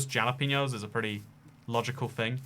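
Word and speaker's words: jalapeño: I was horrified you pronounced the J in jalapeno like a J and not a H.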